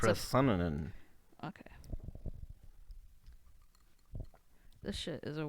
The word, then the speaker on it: Procyonidae: Procyonidae. We're gonna look up the pronunciation of that word right quick. It's Procyonidae.